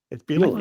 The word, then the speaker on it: Bielema: It's Bielema. Brad Bielema. Bielema. Yeah. How did I get 4 syllables out of there?